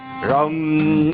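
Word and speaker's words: रं: र के ऊपर बिंदी और टंकार है रम।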